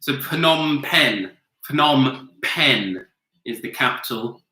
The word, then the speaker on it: Phnom Penh: h n so / Phnom Penh phenom penh is the capital of we're pretty sure about the pronunciation although it's a Phnom Penh with other I watched